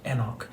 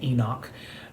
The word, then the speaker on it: Enoch: in verse 21 with Enoch or as you might hear it pronounced more often, Enoch in our Americanized pronunciation.